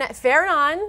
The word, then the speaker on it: Fernand: So, that's the latest on Fenon and that is how you pronounce it.